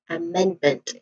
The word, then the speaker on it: amendment: Of course pronunciation wise there are three distinct sounds starts with ishwa sound that upside down e and then another disting sound is mend again bend which is the primary stress of this word and lastly meant which is a sound. Okay. So the final syllable is meant which is also unstressed. So the the stressed syllable is meant the second syllable. So you say as amendment again amendment.